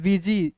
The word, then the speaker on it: busy: बीजी लिखा हुआ है, बी यू एस वाई, देखिए इसको हम पढ़ते हैं बीजी, इसका मतलब हिंदी होता है व्यस्त।